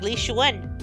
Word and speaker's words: Li Xuan: Surprisingly enough, we were pronouncing Li Xuan's name the correct way. We were? Li Xuan? Li Xuan, yeah. Like even with the tones, that's how it's pronounced like supposed to be.